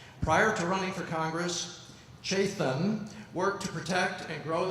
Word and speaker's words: Chetan: All right, our next candidate is Chetan, and I pronounce it correctly? It's Chetan.